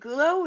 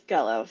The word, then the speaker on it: Gullo: Um my my great buddy and Nick Gulo.